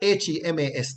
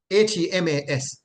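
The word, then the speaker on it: ἡμᾶς: would use words like HEMAS. This is the kind of word you would see in the text, right? HEMAS. And that would be pronounced hemas, hemas.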